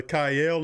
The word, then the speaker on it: Chayil: My name is Kayel. It's a pleasure to be on your show. I watch you often. All right, thank you, my brother. Kyle is how you pronounce it, Kyle. Yep, Chayil.